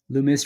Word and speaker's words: Loomis: Loomis rhymes with hummus.